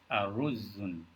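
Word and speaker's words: أرز: arusum rice all right the correct pronunciation for rice in arabic is a rose all right has a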